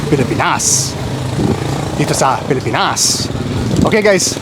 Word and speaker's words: Pilipinas: And also, thank you guys for correcting my pronunciation of the Philippines. I kept saying Pilipinas, which is not the correct pronunciation. Pilipinas.